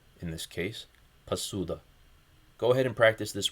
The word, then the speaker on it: посуда: Also make sure to note that the first vowel, o, is reduced. Instead of po, it would be p in this case, pasuda.